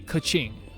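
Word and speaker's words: Keqing: say like catch ski k e q i n g would be like a kaching uh zh is pronounced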